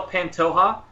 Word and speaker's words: Pantoja: uh pantoja and so soft J like jalapeno so it's a hey panto and then it's like je that's hot right and so ha everybody always is curious how to pronounce my name and that's probably the only Spanish that I know is that soft J right there so uh um so